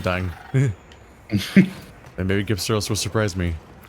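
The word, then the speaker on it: Gypceros: And maybe Gypsaros will surprise me. I feel like I should stick with the hard G with this dangerous monster name.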